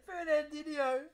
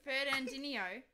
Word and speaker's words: Fernandinho: Fernandino. How do you say it? Fernandinho. Fernandinho.